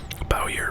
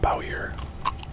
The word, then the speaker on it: Bowyer: Do you pronounce that Bauer or Bowyer? Maybe Bowyer, yeah. Because if it was Boyer, then the W basically gets ignored. So Bowyer, I guess the way that's pronounced.